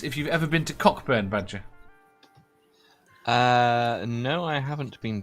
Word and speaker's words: Cockburn: he also asks if you've ever been to Cockburn badger no I haven't been to Cockburn it's pronounced cut Abed is it yeah it's not spelled but it's not spelled coke I know it's pronounced Co a bit not here it's nuts right there are two